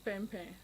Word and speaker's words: pain: from so our first name for Mana was P which is which is bread in French yes and then because it's spelling it's spelled as p a i n so gambian